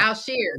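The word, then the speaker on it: Al-Shaair: well it doesn't look like it I can't pronounce old boy's name I think it's Al Shir uh Al sheer thank you alare thank you guys he has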